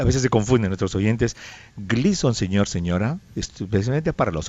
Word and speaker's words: Gleason: Gleason se escribe gleason se pronuncia Glison.